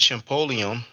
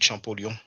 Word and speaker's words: Champollion: the better you know now you pronounce it cholon you pronounce it champon big deal just like you pronounce champagne we say champag same word different pronunciation okay first link the other